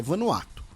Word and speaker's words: Vanuatu: vanuatu ou vanuatu né lembrando a pronúncia correta é vanuatu a gente fala vanuatu aqui porque é mais legal dar mais ênfase e a nossa brincadeira interna né ah e infelizmente